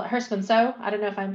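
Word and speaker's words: Herstmonceux: And I've been to the one, and I call it Hurstman Zoo. I don't know if I'm pronouncing it wrong. Hurstman Zoo. Hurstman Zoo, okay. It's not pronounced how you would expect it.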